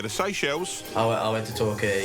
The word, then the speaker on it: Torquay: I went to Torquay. It's pronounced Turkey. Down in Devon. Oh, Torquay!